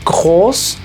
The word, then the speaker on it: groß: Esto se lee groß.